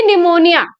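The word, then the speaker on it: pneumonia: काफी टाइम आप देखते हो कि कुछ ऐसे वर्ड्स होते हैं, जैसे कि निमोनिया, उसमें क्या होता है? पी साइलेंट होता है, ठीक है?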